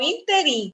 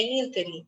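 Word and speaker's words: ínterim: gente usa na redação as pessoas falam interim é interim ímprobo misantropo todas essas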